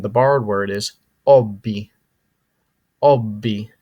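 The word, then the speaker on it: hobby: borrowed word is Obi Obby notice the H is silent okay but still used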